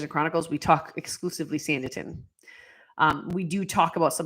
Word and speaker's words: Sanditon: on this podcast quiet and still message sanditin is spelled s-a-n as in Knight d as in dog i t o n sanderton yes Kim it's always good to talk about